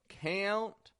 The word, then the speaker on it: count: one because this has two examples of that American twang count c u n t count and hand hand hey we've got a wide a a it's f followed by a nasal sound we make that little transition a he